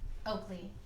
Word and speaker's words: Oakleigh: Oakley. Point of order. It's Oakleigh. Not like your dog. G-H. Oh. Legally distinct. Well Legally done. distinct. So it's like Lee at the end.